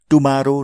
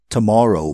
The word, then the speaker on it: tomorrow: यो शब्दलाई गलत उच्चारण गरेर टुमारो नभन्नुहोस् है, tomorrow भन्नुहोस्।